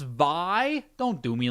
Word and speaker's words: Vay: It's pronounced Vi.